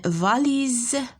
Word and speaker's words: valise: Par exemple, غادي نزيدو une valise. شتي Z S جات entre I et E.